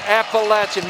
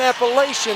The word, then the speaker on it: Appalachian: are that i know how to say the word appalachian thank you appalachian maddie i think i actually heard you say in appellation no you did it party foul i will i will